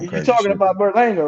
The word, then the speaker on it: Berlanga: Yeah, I mean, Berlanga is a young guy. You know what I'm saying? He need to take his time though. I mean, I You think gotta work on your Spanish and it's Baralanga.